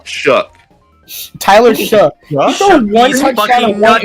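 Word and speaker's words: Shough: So um Tyler Sha uh threw one touchdown and look if you're going to talk about the guy at least say his name right. What is it? Tyler Sha Tyler Sha Shook.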